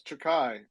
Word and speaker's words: Chikai: if I butchered it no you pronounce it well it's takai I think uh yeah